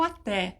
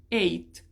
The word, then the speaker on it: ate: vou pro passado e não não pronuncio o até tá isso aqui não é até logo até mais tarde é ate então eu comi I ate